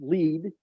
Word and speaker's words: Lead: Located underground in the Sanford underground research facility in Lead, South Dakota, pronounced "lead."